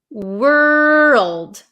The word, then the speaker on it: world: we have the word world world world so make sure you pronounce that L were world world world okay you